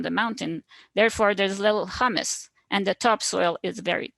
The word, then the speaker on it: humus: And just, I know Manon has a slight accent, so I've always pronounced it humus, where hummus in my mind is spelled with a double M, just throwing it out